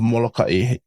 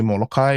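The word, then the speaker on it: Molokaʻi: And this is kind of tricky because even the natives of Molokai have different ways of pronouncing it. Some say Molokai without the okina. Some just say Molokai. I don't know. I've always known it as Molokai, so that's what I call it as.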